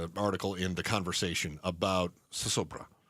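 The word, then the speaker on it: zozobra: in The Conversation about sosobra. And it's spelled with Z's, but kind of pronounced that S sound.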